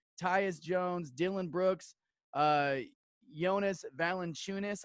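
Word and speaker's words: Valančiūnas: Jones, Dylan Brooks, Jonas Valanciunas, I think is how you say his name. Valanciunas, like you're chewing something.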